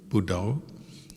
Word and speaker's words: Buddho: And some people use the word Buddho, from Buddha. Buddho means the knowing, or the one who knows. As you breathe in Bud, you breathe out To. So 2 syllables, just to help keep